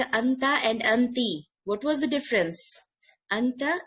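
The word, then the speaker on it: أنتِ: Anti. Anti. In, Okay, okay. yeah, in yani in style they say inti, like if you might feel some Arabs saying this, just style, but the proper pronunciation is anti.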